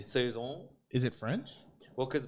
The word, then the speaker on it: saison: what would say here in america they say it's saisons but i think in europe it should be suzung is it french well